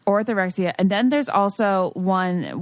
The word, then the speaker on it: orthorexia: Orthorexia. Orthorexia.